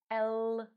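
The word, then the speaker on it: л: what rule looks like letter L sound Oh like the first sound in the word lemon in English and here is how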